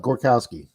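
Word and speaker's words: Gorzkowski: That's exactly right. The Z is silent. Gorkowski.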